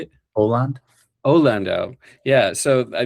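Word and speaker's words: Åland: from the Aland Islands, is that the right pronunciation? You know, that there's How is it? How do you say it? Aland.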